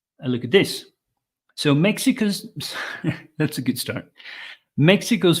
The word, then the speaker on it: Mexico's: Mexico's first president so it's an S but it's actually a zed sound z sound Mexico's first female president okay